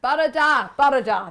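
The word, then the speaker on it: bore da: I hear John Scott saying, Barada. That's how you pronounce it.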